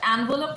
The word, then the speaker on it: envelope: Next is when अच्छा envelope और envelope भी चलता है. ENVELOPE, envelope, envelope.